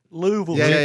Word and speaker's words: Louisville: uh go ahead Casey I'm gonna go with Louisville that's good that's not how you say it Louisville we're not New York if you're yeah Louisville